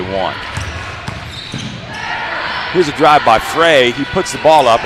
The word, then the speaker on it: Frey: here's a drive by Frey he puts the ball up or I should say fry we'll have to check on that pronunciation it's f-r-e-y so I'll say Frey here's a drive by